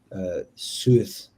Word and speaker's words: Seth: So the meaning of the name Set is unknown, but it's thought to have been originally pronounced Suth, SUW.TIX, based on the spellings of the name of the Egyptian hieroglyphs of STH and SWTH.